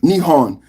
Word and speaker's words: Nihon: In Japanese, Japan is called Ni Nihon, which can also be pronounced Nepon and translates to the origin of the sun.